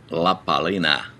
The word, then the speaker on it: La Palina: what are we doing the how do you pronounce it la palina la palina there you go you got a good focus